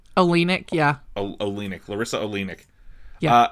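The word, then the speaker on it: Oleynik: Olenek, yeah.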